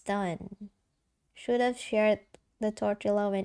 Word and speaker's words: tortilla: No, there there is a tortilla. Tortilla. Oh, that's how you read it. Tortilla. You did not read the the L.